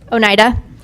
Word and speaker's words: Oneida: Oneida.